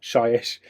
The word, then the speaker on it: Shyish: So this is the Purple Sun of Shyish. I always get that name wrong. I always call it Hyish.